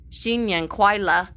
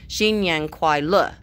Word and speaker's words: 新年快乐: Xin Yang Kuai La. Oops, sorry. You can't say it like a question. It has to be very forceful at the end, my mother told me. Xin Yang Kuai La.